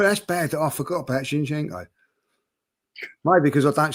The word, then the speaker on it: Zinchenko: Maybe because you say Shinchenko, whatever it is you say. Shinchenko. Yeah, I thought it was an S. CH.